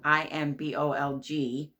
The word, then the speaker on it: Imbolc: And so today is Imbolc, how I pronounce it, Imbolc. She has it written in here, Imbolc, Imbolg.